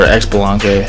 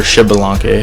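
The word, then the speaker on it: Xbalanque: a new X-Ball skin, or X-Balanque, or Shibalanque, however you want to pronounce that.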